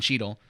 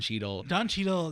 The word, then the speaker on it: Cheadle: How do you pronounce his last name? Don Cheadle. Don Cheadle.